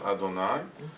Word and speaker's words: Adonai: Like the way we write Yud Hey Vav Hey and we pronounce Adonai.